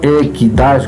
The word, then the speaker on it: equidade: Equidade e não equidade, como diz um professor aí do Nordeste, a trela caiu, mas a pronúncia não, é equidade.